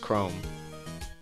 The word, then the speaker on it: Chrome: kind of shy and her name is obviously kuromu which i'm pretty sure that's how you pronounce it or if not it's just chrome and yeah so we're